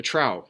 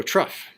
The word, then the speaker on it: trough: now I guess a trow trough how do I pronounce this trough travel anyone know how to pronounce this music oh I thought so we get rough okay so truf that is a point